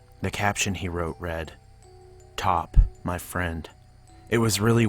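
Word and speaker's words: Pot: he drew of her her name he says is p-o-t i don't know what that means but it's pronounced top i asked why but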